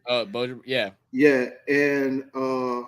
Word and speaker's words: Bojan: The Brooklyn Nets have agreed in principle to trade forward Mikal Bridges to the New York Knicks for Bojan Bogdanovic, if I'm saying it right. Bojan, yeah.